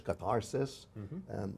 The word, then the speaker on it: catharsis: So "he who arrives to that place after purification"-- and here's our wonderful word katharsis, or as we pronounce it in English, catharsis-- ritual 'purification,' but also medical 'purging.'